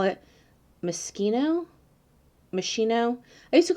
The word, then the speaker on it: Moschino: palette all the time instead of moschino i think i think it was meschino because i had no idea how to pronounce moschino but i really enjoy